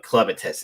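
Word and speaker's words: Clevatess: episode which is um I kept saying the name wrong. It's actually uh Clemetus is the name actually. It's the correct name.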